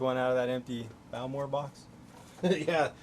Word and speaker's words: Bowmore: you say it right bulmore bowmore yeah think like bow as in bow and arrow all right not a bowel yeah bulmer yep balmore